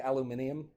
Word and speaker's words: aluminium: Like how the British, we say aluminum, but the British say aluminium.